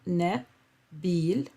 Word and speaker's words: نبيل: Just to emphasize the short vowels, you have na. There is a fatha on top of the noon, na, bil. This is why we pronounce it as na. A short vowel makes the same sounds as long vowels, but shorter. So instead of saying na, you say na.